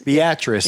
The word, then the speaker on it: Beatrice: a trip how do you say it Beatrice Beatrice yeah which is a town of how many